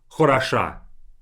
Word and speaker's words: хороша: Compare хорошо to хороша. A completely different word by pronunciation, but I just simply changed the stress of it.